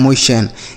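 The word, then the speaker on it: motion: उसके बाद एम ओ से पढ़ेंगे मो और टी आई ओ एन को सन। यह लिखा गया है मोशन।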